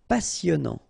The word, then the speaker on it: passionnant: Passionnant. Final T not pronounced. Passionnant.